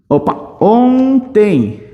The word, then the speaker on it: ontem: não falou ou então esse n aqui ele já me dá uma ideia de nasalização do o mas aqui eu não falo o team eu falo tem nasal então no final aqui